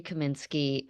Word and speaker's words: Kaminsky: your name wrong um Lori lri kin Ski Hi uh it's Lori Kaminsky um I'm with uh